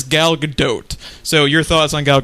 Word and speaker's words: Gal Gadot: been a rough Mike we had been mispronouncing her name along with the rest of the internet incorrectly a long long time but it is gal gadot so your thoughts on